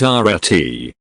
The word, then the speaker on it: arete: This ancient Greek word, pronounced arete, holds a depth of meaning that transcends simple translation.